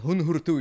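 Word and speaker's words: Huun-Huur-Tu: They're called Hun Hurtu. You should check them out. They're wonderful. I don't even know how to spell that.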